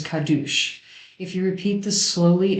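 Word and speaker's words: קדוש: gravity and radio waves the old ashkenazi pronunciation of the hebrew word for holy is kadush if you repeat this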